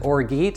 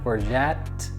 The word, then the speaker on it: orgeat: in the room is you going to want to pronounce it Orit and Hey listen I feel for you I would want to pronounce it that way too but it is or you can add a little T on the end orette I'm making this recipe